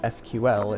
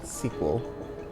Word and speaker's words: SQL: When she found out that SQL, which is a database language, is pronounced SQL instead of sequel, and she was not happy.